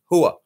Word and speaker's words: hooah: oo oah oh ha and we are hook or hooah so not or who or whatever the hell they like to say in Hollywood it's hooah and it actually stands it's